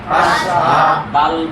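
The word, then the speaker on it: أشهد: হা জবর হা জবর হা দুইটা মিলাই আশহা আশহা দাল পেশ দু দাল পেশ দু আশহাদু আশহাদু আশহাদু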